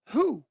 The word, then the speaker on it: who: And the last one is who. So the W here is silent.